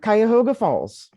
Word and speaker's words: Cuyahoga Falls: and and where is uh is it uh Cuyahoga Falls is that am I pronouncing right yep Cuyahoga Falls and where is that what's is that near